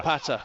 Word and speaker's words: Wopata: Wopata, exactly. Wopata. The W is crucial.